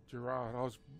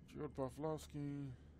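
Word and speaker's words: Gerald Broflovski: Oh, I did pronounce it wrong. Gerard. I had it written down as Gerard. Gerald Broflowski.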